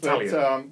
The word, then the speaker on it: Talion: It's pronounced Talion. It's pronounced Talion.